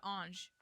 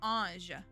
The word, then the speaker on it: ange: So the word is ange. And I can't say it properly because I can't speak French. Emily helped correcting it, and so like I was saying more like ange, and it's a little more je sound, je.